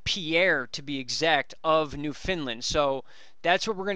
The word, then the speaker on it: Newfoundland: That's how you guys are telling me to pronounce it. Newfoundland.